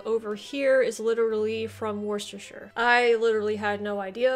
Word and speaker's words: Worcestershire: Apologize for the pronunciations. Don't Talk to Me says, the Worcestershire sauce that you have over here is literally from Worcestershire.